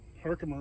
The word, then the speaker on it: Herkimer: Pronounced Herkimer in today's vernacular, but it was Herkheimer.